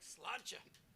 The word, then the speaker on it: sláinte: I like sláinte. Sláinte. Is that it? In Ireland.